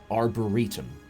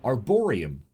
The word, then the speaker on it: Arboretum: I've been pronouncing it Arboretum. Someone recently, I heard on a stream, pronounced it Arboreum, which I believe is in fact the correct pronunciation.